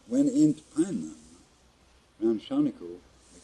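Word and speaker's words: Czarnikow: It don't sound like it when I spell it. I said, Shawnico, yeah. C-Z-A-R-N-I-K-O-W. Does that spell sound like Shawnico? No. What was that again? C-Z-A-R-N-I-K-O-W. If that spells Shawnico, I don't know how.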